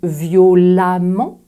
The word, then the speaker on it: violemment: la première lettre E le premier e prononcé comme un a très ouvert je dirais donc violament mais aussi différemment intelligent